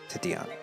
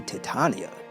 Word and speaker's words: Titania: Oh no, this letter is for you, Titiana. For me? No, it should be Titania. I think that's how you pronounce it.